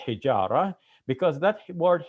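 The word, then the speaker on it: الحجارة: That ta marbuta in Arabic is such that if we are pronouncing it at the end of a word and we're pausing after that pronunciation of that letter, then we pronounce it as an H sound, as a ha.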